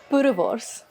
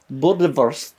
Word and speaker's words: Boerewors: So today, Deborah is going making, pronounce it, Deborah? Boerewors. Boerewors.